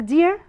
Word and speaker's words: deer: Deer, deer طبعا it's pronounced at the same as dear, يعني عزيزي.